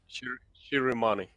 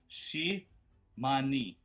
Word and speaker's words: Shirimani: Ah, Shirimani. Oh, Shiramani. I thought it was Shimani.